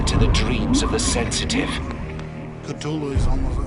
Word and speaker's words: Cthulhu: tells a colleague, well, it's really meant to be 2 syllables. You're supposed to put your tongue at the roof of your mouth and cough it out like Cthulhu.